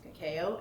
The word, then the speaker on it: Cacao: their last name is. That's the proper pronunciation in Philippines. Uh but a white doctor decided it was Cakeo and they were like okay.